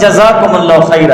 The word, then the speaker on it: جزاکم اللہ خیر: نہیں بنانا چاہیے نا، زا پر تشدید نہیں لانا ہے، زا مشدد نہیں ہے، بس جزاکم اللہ خیر ہے۔ اگر دوسری زبان کا